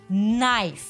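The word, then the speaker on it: knife: সো আরেকটা example দেখেন, নাইফ। Give me আ নাইফ। নাইফের কেটা কিন্তু সাইলেন্ট, রাইট?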